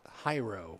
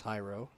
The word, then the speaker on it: Hyro: Yes, I think they told us it's Hyro, which we may have called him J-Ro last game, but I think our crack PA announcer, John Kretzer, went down and got the actual pronunciations, and we were told by their staff that it's Hyro.